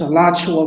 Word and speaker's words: Alachua: it's Alachua, Florida.